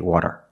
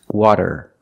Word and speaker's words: water: but it's not correct we cannot say water it's water water use a fasty DA we cannot say this